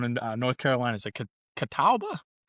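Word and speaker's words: Catawba: Is it Kataba? Kataba.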